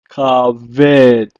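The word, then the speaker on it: כבד: In Hebrew, it is pronounced as kaved.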